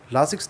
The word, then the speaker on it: Lasix: लासिक्स tablet या फिर लेसिक्स tablet जैसे भी आप इसका उच्चारण कर सकते हैं, दोनों में से आप कुछ भी कह सकते हैं।